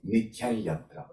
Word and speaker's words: nityam yatra: So we need to nasalize more this Anusvara, and then when we are pronouncing Nityan Yatra. Okay, Nityan Yatra, right?